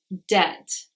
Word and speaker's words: debt: a letter B is it's not usually pronounced when it comes before the letter T so words like doubt debt subtle you cannot hear the bead in those words the next one is